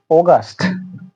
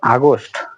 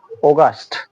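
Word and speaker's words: August: জুলাই পরবর্তীতে হচ্ছে অগস্ট অগস্ট আসলে আমরা এই মাসটিকে আগেই উচ্চারণ করতাম বা এখনো আমরা অনেকেই উচ্চারণ করি আগস্ট আসলে এটা আগস্ট কেমনে হয় আমি বুঝতে পারি না এর উচ্চারণ হবে অগস্ট ব্রিটিশরা যেভাবে প্রোনাউন্সিয়েশনটা করে থাকে আমরা সেটাই শেখার চেষ্টা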